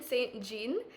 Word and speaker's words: St. Jean: and with me today I have Morgan Saint Jean um she's a singer-songwriter and could you introduce